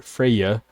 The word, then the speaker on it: Freyja: is freyja f-r-e-y-a or freyja f-r-e-y-j-a pretty much pronounced the same exact way she is not an